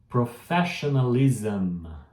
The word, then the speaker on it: professionalism: Professionalism. Professionalism. Que é isso, Peter? Eu te explico. Quando tem o SM, eu vou pronunciar como se fosse um ZAM.